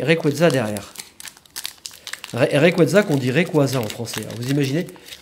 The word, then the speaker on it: Rayquaza: Rayquaza qu'on dit Rayquaza en français.